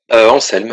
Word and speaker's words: Anselme: Anselme. Voilà, ben, au moins je saurai. Donc là, je prononce comme un S.